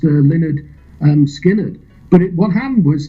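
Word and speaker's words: Lynyrd Skynyrd: first album didn't actually run to August 1973 pronounced Leonard um skinnard but it what happened was that the the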